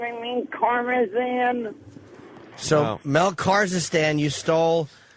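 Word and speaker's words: Karmazin: Kazakhstan. Kazakhstan. I know I said it wrong. I mean Karmazan.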